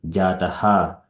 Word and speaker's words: जातः: There is a dot under H. It is, we need to pronounce Jataha. And then here, Alpa Medasaha. So we need to put Ha sound comes there. Medasaha. It is called Visarga.